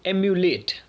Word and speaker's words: emulate: यहाँ पे ये वर्ड जो है वो है एम्यूलेट। तो थोड़ा सा प्रोनाउंसिएशन में भी अंतर है और स्पेलिंग में भी अंतर है। सो इसे पढ़ते हैं एम्यूलेट और वो है एमुलेट।